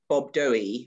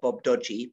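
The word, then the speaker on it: Bob-Dogi: by the case of bob doughey or bob dodgey pronounced in both ways depending on who you are uh is that there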